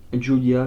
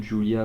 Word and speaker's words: Giulia: tout ça face à Giulia Julia je pas vraiment je crois que c'est plus Julia qu'on prononce et stepphanie vaker voilà